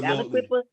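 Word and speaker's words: Aliquippa: Alquippa.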